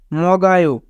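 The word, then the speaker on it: 먹어요: সানসিপ গুনে 30 মিনিটে মগায় মানে খায় এখানে বাচ্চিমের পরে ইয়ং থাকার কারণে ইয়ং এর স্থানে বাচ্চিম টিকেছে তাই উচ্চারণ হয়েছে মগায় মগায় মানে খায় ইয়লুসি বারোটায়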